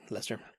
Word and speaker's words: Leicester: It's spelled Leicester, but I think it's Leicester, and mozzarella.